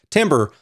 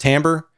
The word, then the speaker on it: timbre: the tonality and the timbre such a weird word by the way timber going off track timber is what it looks like but it's pronounced timbre and every time i